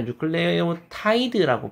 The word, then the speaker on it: 뉴클레오티드: 염기가 붙어서 만들어지는네 종류의 뉴클레오티드가 각각 생기게 되겠습니다. 그래서 뉴클레오티드는 인산, 오탄당, 그리고 염기 세 개가 만나서 만들어지는게 뉴클레오티드가 되겠습니다. 자, 한국에서 뉴클레오티드가 아니라 뉴클레오타이드라고 부르는 경우도 있죠.